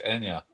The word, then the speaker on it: Anja: so we're saying your name wrong. It's Anya.